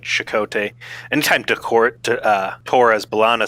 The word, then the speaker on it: Chakotay: Like, everybody's kind of like Chakotay. Anytime Torres Balana says it, she's like, Chakotay.